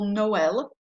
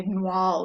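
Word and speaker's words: Noël: for example noel uh if it's used it means that you're going to pronounce the second vowel separately from the first when you have two vowels so otherwise if that wasn't here we might say nual or something because the o and the e would be together but they're pronounced separately because of the accent so it's no el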